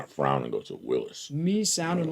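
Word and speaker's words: Willys: Boyd says Willis is pronounced Willis. Apparently, that's how Big Daddy Garlic pronounces. I have a friend that has those things, and that's what he always says, Willis.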